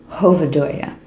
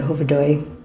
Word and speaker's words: Hovedøy: I think that's how you pronounce it, Hovedøy, even though there's an A on the end.